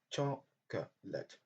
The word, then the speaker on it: chocolate: Donc, comme vous voyez dans l'exemple, chocolate, chocolate, chocolate. Dans ce mot, nous avons choix au niveau de la deuxième syllabe.